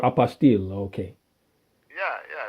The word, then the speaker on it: apostille: I could have got Apostille. It really is the word. Yeah, but that's how they say it. Okay. You know, I apostille. can't correct it. I mean, I know that. Yeah. Yeah. Apostille, but it's true. Everybody in America says apostle.